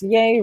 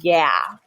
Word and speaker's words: ay: might see yay and this yay rhymes with K it is not the same thing as yeah alright that's not um